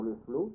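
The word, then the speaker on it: Le Floch: Il y avait un très bon résumé du modernisme par le père Leflot, ça s'écrit Leflot en deux mots, FLOCH, un nom breton en deux syllabes.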